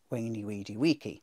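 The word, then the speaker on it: veni vidi vici: Weeny, weedy, weeky.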